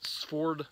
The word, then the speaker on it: Svord: the on the ford ford knives and that's sv ORD and it's pronounced ford i believe i'm saying that right